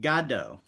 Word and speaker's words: Godot: Which is apparently pronounced Godo.